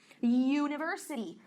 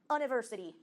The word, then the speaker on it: university: University. Também pronuncia ele com o youzinho. Não é uniform, university.